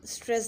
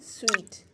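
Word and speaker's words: suite: ये क्या है? सूट पढ़ेंगे इसे? मैंने होटल में सूट बुक कराया है? नो, मैंने होटल में स्वीट बुक कराया है। इसका सही प्रोनाउंसिएशन है स्वीट।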